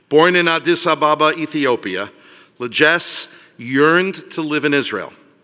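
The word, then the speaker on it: Legesse: I'd now like to call upon Legass. Is that right? Yes, sir. I got it right. Very nice. It's spelled L-E-G-E-S-S-E, so you understand why I'm a university president.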